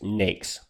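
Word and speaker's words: NAICS: google and type in census n-a-i-c-s and that is pronounced nakes click on the link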